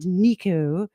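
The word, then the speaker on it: Neko: Well, a bit like Madame versus Madam. It's spelled the Japanese way and said the Italian way.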